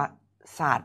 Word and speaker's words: ศาสตร์: โอเค นะ ต่อ ไป คำ นี้ อ่าน ว่า ศาสตร์ นะ คำ นี้ อ่าน ว่า ศาสตร์ นะ ครับ สะกด ครับ ส อะ ด สัตว์ รวม เป็น